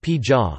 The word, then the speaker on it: ဘုရား: The umbrella term phaya, pronounced pija, which derives from Sanskrit vara, refers to pagodas,